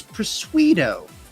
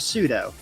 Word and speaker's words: pseudo: Well, my favorite bit to do is that I will pronounce things incorrectly, like if it's got a silent letter. My favorite is Persuedo instead of pseudo.